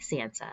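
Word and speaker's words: tsantsa: like whoa wait what this is spelled t-s-a-n-t-s-a Sansa which is the the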